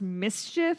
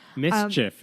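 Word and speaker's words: MSCHF: based creative label called I believe it's pronounced Mischief it's Capital Ms C HF which God I cannot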